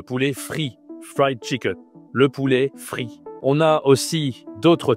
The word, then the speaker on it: poulet: Chicken, ça se dit tout simplement le poulet. Le poulet en français. Attention, ne dis pas le poulet, dit le poulet. C'est la voix grave, hein, poulet.